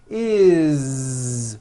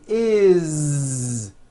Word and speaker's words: is: voiced Z is it doesn't matter that it's spelled with an S it's never is unvoiced never it's always is with a voiced Z okay do this with